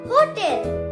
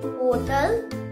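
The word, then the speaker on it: hotel: होटल और होटल, इट्स होटल नॉट होटल, होटल।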